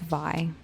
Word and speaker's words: vie: Drama ensues when both Courtney and John Paul I have just been told it's pronounced Vi. Drama ensued when both Courtney and John Paul vie for the affection of their one true love, Wendy's berry cherry fruit tea.